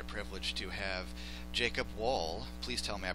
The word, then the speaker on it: Wohl: It is an honor and a privilege to have Jacob Wohl. Please tell me I pronounced it correctly today.